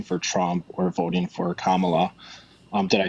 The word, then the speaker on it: Kamala: that by voting for Trump or voting for Kamala um did I say it correctly comma yeah